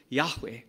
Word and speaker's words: Yahweh: theim yod VAV he transliterated as YH wh we pronounce it Yahweh the Old Testament name